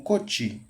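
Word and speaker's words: kocsi: Kochi, Kochi, Se vocês não estiverem ouvindo, é algo como Koti. E se escreve K-O-C-S-I.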